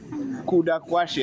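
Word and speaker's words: Kudakwashe: the model governor right my middle name is kuda right kuda quashy I've said it twice now so whatever can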